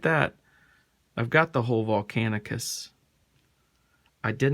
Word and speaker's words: Volcanicus: predicing boom that's nice got two of volcanus volcanicus sorry I say it wrong all the time I catch